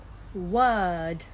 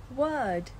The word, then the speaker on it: word: pronunciation challenge her first word her first word did you notice something that's right we don't pronounce the r in british english her first word you